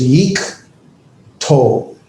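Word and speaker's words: יִקְטֹל: That's a silent shavah because it closes the syllable. So it's yeek tol, and that is an imperfect conjunction, third masculine singular.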